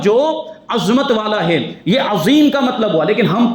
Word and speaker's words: عظیم: وہ ہے عظیم, اور لوگ پڑھنے والے جن کو مخرج اور تلفظ نہیں آتا وہ پڑھ رہے ہیں عجیم.